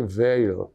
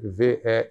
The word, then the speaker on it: Veil: figura importantíssima que é Simone ve eu acho que é assim que se fala o nome dela se escreve v e i l Veil ve né Eh ela foi